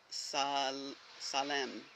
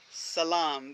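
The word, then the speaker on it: salaam: So, believe it or not, I was thinking about the sacred sound of Salem. Salam. That's what I wanted to say.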